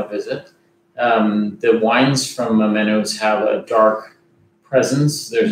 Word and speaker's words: Amoenus: Amoenus, I say Amoenus. Amoenus, it's probably the right way.